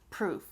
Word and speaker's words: proof: The vowel sound, right? Prove, that's longer. You're saying it for a longer length of time. And then proof is a lot faster. Proof, prove, proof, okay? And then the other difference is the ending. Prove, has the V ending, Proof has the F.